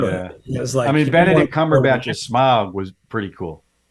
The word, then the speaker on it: Cumberbatch: It was Benedict Cumberbatch as Smaug was pretty cool. What'd you say? Benedict Cumberbatch as Smaug was pretty cool. There was really great pieces. Smaug was the dragon. It's not Cumberpatch. It's Cumberbatch.